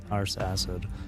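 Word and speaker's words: Arsacid: The way they pronounce ars acid, they say ars and then acid. It's like butt acid since ars is just another way of saying butt.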